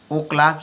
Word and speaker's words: o'clock: और eight 10 o'clock यानी ऑफ क्लॉक। ओ क्लॉक जो हम यह लिखते हैं ओ क्लॉक, वाकई में यह है ऑफ क्लॉक। इसमें जो एफ होता है वो साइलेंट होता है।